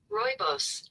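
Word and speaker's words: rooibos: I'm reading about I don't know if it's ruos ruibos t I'm learning now. It's pretty color too. Oh, okay. does a lot for Wow. Oh, I'm gonna learn how to pronounce it right now. Royos.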